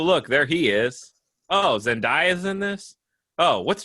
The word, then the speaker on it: Zendaya: pronounce her name because everyone pronounces it wrong and it's not zendaya she's like it's zen day uh that's it that's